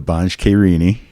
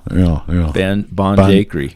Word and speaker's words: Banjhakri: And Wolfman Puck will be having as a very special honored guest the Banjhakrini.